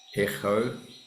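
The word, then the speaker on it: ἔχω: Echo, that's the key sound there. I think they sort of put a bit of a rough, throaty voice in there to separate it from the kappa, which is like the K sound.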